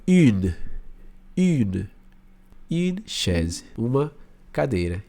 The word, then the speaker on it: une: Então faz o biquinho U. E aí você termina de pronunciar. Então fica une.